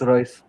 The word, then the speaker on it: Reus: Roos or Royce? I don't know how to pronounce that. I say Marco Marco Reus. Royce. Oh, is it Royce? I like Yeah. Roos, yes. Marco Yeah, it's Royce. Marco Royce. Fair enough.